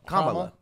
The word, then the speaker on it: Kamala: He like escorted Kamala Harris out, actually. Kamala. I every time I say it, I'm like. Think comma and then law.